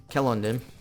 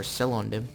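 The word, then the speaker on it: Celondim: Then we got Thorin's Hall, and then Kelondim, or Selondim, however you want to pronounce it.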